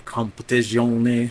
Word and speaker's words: Competizione: came out with a Assetto Corsa Competition or Competizione, I guess the Italian pronunciation.